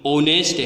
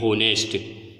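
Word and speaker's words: honest: यहाँ पर हम एन का यूज करेंगे क्योंकि इसका एच साइलेंट रहता है और इसका सही प्रोनाउंसिएशन ऑनेस्ट है, ना कि होनेस्ट, इसलिए यहाँ पर एन का यूज किया।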